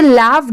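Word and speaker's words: laugh: तो वहां पर आप उसे लाफ्ड नहीं प्रोनाउंस करेंगे।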